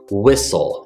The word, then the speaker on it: whistle: know what you're thinking why is there a t in there I don't know the t is completely silent ignore the T it doesn't need to be involved whistle is how this word sounds I do know how